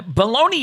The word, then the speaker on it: bologna: is it uh italian it's an italian name it's pronounced bologna oh kind of like